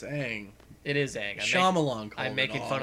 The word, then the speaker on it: Aang: even that good wait a minute no it's Aang it is I'm making fun of the movie